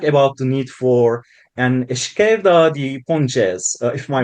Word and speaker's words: esquerda de pontes: transition, you spoke about the need for an esquerda de pontes, if my pronunciation is correct, Yeah, a yeah, yeah.